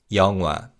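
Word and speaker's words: 영화: And first up is the word for a film and this is Yonga. Yongwa. Now when we say this word in natural speed in is almost silent.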